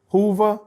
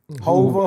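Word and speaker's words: Whova: Is it Hoover? Hova. It's W. I don't know how to pronounce it.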